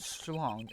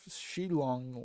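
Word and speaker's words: Shi-Long Lang: So Agent Shlong is a man who hates all courts and is unwilling to forgive prosecutors. I keep saying his name wrong, but Shilong Lang.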